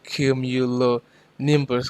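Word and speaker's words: cumulonimbus: So I hope you can pronounce that a cumulo nimbus cloud.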